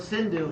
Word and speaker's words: Sindhu: it so happens that the people on the west side the Persians pronounced an initial s like an H there's more for example